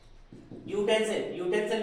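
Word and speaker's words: utensil: जैसे यूटेंसिल, यूटेंसिल में भी या आता है तो हम यूज करेंगे ए।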